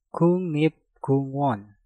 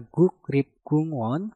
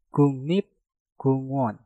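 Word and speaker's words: 국립공원: Maka gioknya kita rubah menjadi nyieng dan realnya kita rubah menjadi nien. Maka yang tadinya guk rip kungwon menjadi kungnip kungwon.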